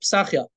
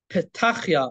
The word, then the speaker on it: Pesachia: So Ashkenazim pronounce Pesachia the way I'm pronouncing it, Pesachia, but Sephardim would pronounce it Petachia or Pesachia, with the saf being, you know, being a T sound or a TH sound.